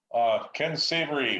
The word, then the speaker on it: Ken Savary: Ken Savary, fiscal staff. Am I pronouncing that correct?